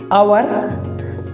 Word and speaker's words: hour: যদি আমরা উচ্চারণ করি, আওয়ার উচ্চারণের সময় এখানে এইচের উচ্চারণ এ বা ও এরকম উচ্চারণ আসছে, কিন্তু এই ওয়ার্ডের ক্ষেত্রে দেখো এইচের উচ্চারণ এইচের মতোই আসছে, যে কারণে যেহেতু কনসোনেন্ট